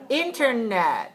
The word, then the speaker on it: internet: three two two one is it internet or internet or internet internet right so three one good and service where